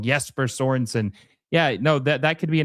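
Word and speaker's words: Jesper Sørensen: Someone got very upset when I said his name wrong. Jesper Sorensen.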